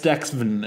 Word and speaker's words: STEXVN: I guess Stexven is how to pronounce that name on SoundCloud.